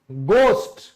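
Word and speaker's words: ghost: तो एच के बाद अगर कोई भी वावल लेटर हो तो एच हमारा साइलेंट हो जाता है। जैसे सम्मान ऑनर बोलते हैं, होनर नहीं बोलते। ठीक है, भूत, गोस्ट, गोस्ट, विद्यालय, स्कूल।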